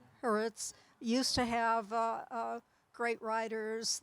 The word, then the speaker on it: Haaretz: There used to be a leftist writer, I don't know whether Harass, the newspaper, is that how it's pronounced? Haaretz.